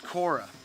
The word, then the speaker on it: Korah: perished in the gang saying of corey says the new uh king james new testament but it's korra so when you're looking